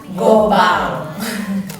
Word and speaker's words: Goban: Angels seperti kita nah terus kenapa dibacanya Gobang kalau dari website-nya sih dia Mereka bilangnya diucapkan dengan French Tong I karena kan kalau French Tong itu belakangnya belakangnya Eng kalau n itu bacanya Eng gitu Jadi kita simpulkan kalau bacanya itu adalah Gobang Nah kalau dari penyebutan